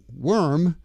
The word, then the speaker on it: worm: And the OR in worm sounds like ER, like bird, or teacher, word, worm.